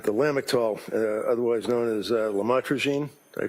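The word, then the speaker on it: lamotrigine: about the u the lamel otherwise known as lamatroine. Did I pronounce that right? Lamotrograene.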